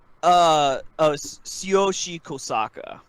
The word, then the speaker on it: Tsuyoshi Kosaka: Tsuyoshi Kosaka. TK. Oh, so the H is silent.